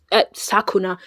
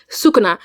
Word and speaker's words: Sukuna: Anyways, I can't believe Mitsuki stole Katsuki from Cinderella and Sak Sakuna. Sukuna.